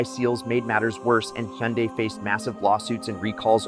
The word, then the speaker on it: Hyundai: Hyundai rhymes with Sunday and the mid-2010s Theta